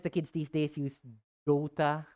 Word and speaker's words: Dota: dota i call it dota but um like short o dota but i notice the kids these days use dota like major social cell